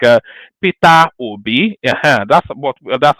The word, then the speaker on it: Obi: it's just the way Peter Obi this is how we pronounce him where I come from you know you are